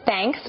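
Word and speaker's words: Thnks: it's called thanks so it's actually pronounced thanks but it's spelled t-h-n-k-s all about showing i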